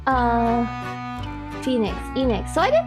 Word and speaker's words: Enix: You pronounce it like square without the Oh, and Phoenix without the F. Uh, Phoenix. Enix.